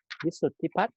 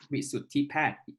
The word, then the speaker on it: Wisuttipat: Okay, so let Ajahn or Wisuttipat, correct? Wisuttipat. Wisuttipat. Gosh, I missed your pronounce like for a long time.